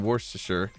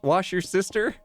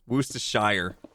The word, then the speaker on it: Worcestershire: Shire I don't know it's not pronounced wash your sister Wooster Worcestershire Worcestershire Worcester Shire that sounds weird I've always said Worcestershire I used to love